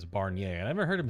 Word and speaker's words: Barnier: It's not Barner. His name is Barnier.